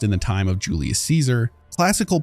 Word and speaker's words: Caesar: have noticed is that the legion doesn't really pronounce Latin words like you'd expect like Caesar and kaisar you must enter Kaiser's tent alone anyone else must remain outside side Josh Sawyer Project Director for New Vegas says the pronunciation of Latin in the game is based on classical not ecclesiastic rules of pronunciation while it is difficult